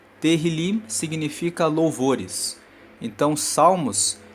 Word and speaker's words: Tehillim: O Salmo 65 faz parte do livro dos Salmos, que no texto original no hebraico se chama Tehillim. Se escreve T-E-H-I-L-I-M. Tehillim significa louvores.